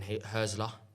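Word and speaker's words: Hürzeler: 2 wins, 2 draws, and I think Fabian Herzler. I said it right this week, guys. What did you call him before? Okay, said you know him. Fabian Hertz.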